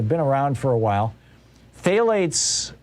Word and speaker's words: phthalates: around for a while phthalates is interestingly spelled with a ph uh but phthalates are